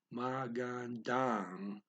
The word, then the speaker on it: magandang: So the A is held longer as the words maganda and ang are blended together a bit, okay? So it comes out magandang, magandang panahon.